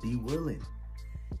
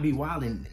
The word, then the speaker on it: B-Willin: Let him know your name is B-Willin. And not B-Wildin.